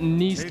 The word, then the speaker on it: Niest: Do you know what Niest means? Rhymes with yeast.